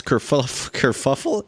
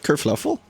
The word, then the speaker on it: kerfuffle: The big bell, the one in the town hall, began ringing all by itself just as all this kerfuffle, isn't it? Kerfluffle? God, I've been saying it wrong this entire time.